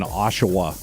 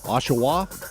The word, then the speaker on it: Oshawa: I just like saying Oshawa. Is it Oshawa? Oshawa? Oshawa. All right.